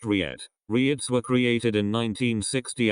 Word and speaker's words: REIT: in a real estate investment trust or he'd pronounced Riyad riots were created in 1960 as a way